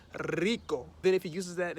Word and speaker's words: rico: know he might say one word like rico which is rich then he might actually make that sound a lot longer so he'll be like rico then if he uses